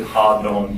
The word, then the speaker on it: Hadon: A lot of people pronounce it different ways. Hayden. Yeah. Phil pronounced it Hadon.